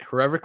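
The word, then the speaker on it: Hrivík: was the frog because when you pronounce his last name it almost sounds like what a frog sounds like rivet yeah yeah that's a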